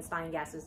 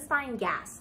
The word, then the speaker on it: Steingass: i was mispronouncing jenn steingass's name it's gen spine gas there's no l my brain input an